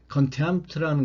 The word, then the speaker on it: contempt: contempt라는 것은요, 발음이 M, P, T로 이렇게 자음 세 개로 되어 있잖아요. 이럴 경우에 여러분들은 뭐 잘 아시겠습니다만, 이럴 경우에 가운데에 있는 자음을 발음을 하지 않습니다.